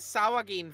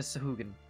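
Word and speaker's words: Sahuagin: our coasts for centuries is that how you pronounce that word sahugan I've been mentally saying it saw again for a long time ever I'm so sorry uh I don't think either one is correct but in this dialect uh the there are about four different ways to pronounce it in this particular dialect we are committed they are committed to sahugan I'm gonna say that's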